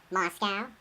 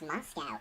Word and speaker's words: Moscow: Moscow? As I said before, the last place you'd expect. By the way, there is no cow in Moscow. Oh, so it's Moscow, is it?